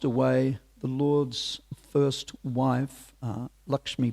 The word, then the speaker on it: Lakshmi: But sadly, whilst away, the Lord's first wife, Lakshmi Priya, or Lucky Priya, if you speak Bengali pronunciation, passed away due to intense separation from her husband.